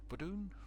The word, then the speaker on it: Verdun: also on the channel Verdun, yeah, that's the way it's pronounced in French.